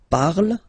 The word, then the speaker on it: parle: So remember, we put it, okay, but then we don't really pronounce it.